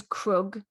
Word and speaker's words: Krug: His name is Krug, which I think she tries to pronounce it like Craig, but being American, I think they say it even differently to us. They say like Craig, don't they?